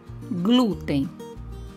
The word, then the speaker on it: glúten: Glúten, ninguém. Em glúten, a sílaba mais forte é glu.